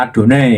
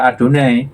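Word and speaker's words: Adonai: Yahwe dengan sembarangan, maka tradisi Yudaisme melarang pengucapan nama itu sejak ayat suci pertama bahkan sebelumnya mungkin dan diganti dengan kata Adone yang artinya Tuhan. Sehingga setiap kali ada nama YHWH dibaca Adone yang diterjemahkan dalam bahasa Yunani kurios.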